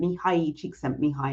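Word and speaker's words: Mihaly Csikszentmihalyi: by a i think he's austrian psychologist um mihai chick sent me hi is how you pronounce his name and he wrote this book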